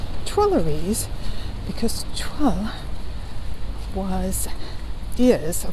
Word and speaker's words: Tuileries: are entering the twillies most of us want to pronounce it Tes but it is twer because TW was is